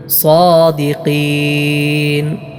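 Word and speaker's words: صادقين: ഇൻ കുൻതും സാദിഖീൻ. സ്വാദാണ്, സാ എന്ന് സീനായി അല്ല സ്വാദായി തന്നെ ഉച്ചരിക്കണം.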